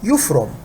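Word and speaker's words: يفرم: Now in spoken Arabic we pronounce it as yufrum, not yafrum. In MSA or standard Arabic we call it yafrum.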